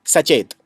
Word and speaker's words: Sachet: Reserve Bank of India has launched a website which is called, in Hindi you can pronounce it Sachet.